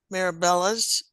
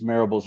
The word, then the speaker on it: Marbles: um we've got marabell uh to join us and just to identify yourself I may have pronounced your name incorrectly that's quite all right it's marbles like Parables my name thank you